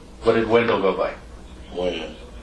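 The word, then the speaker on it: Wynn: Win. Win? Or Wen? Win. Win. W-E-N or W-I-N? W-Y-N-N. W-Y-N-N.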